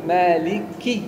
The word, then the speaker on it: مالك: لا تقل مالك مالك يوم. الآن هذه مالك يوم، أنت أكلت الكاف، وهذا يدل على أنك جائع. لا، مشكلتي هذه ليست مشكلتي إذا أنت جائع، لكن يجب أن تكون الكاف واضحة ومكسورة. لا تقل مالك يومي، أنا